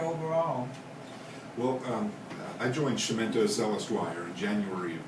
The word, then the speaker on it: Chiumento: finally my partner corrected me he says it's shimento but thankfully they haven't quite yet so so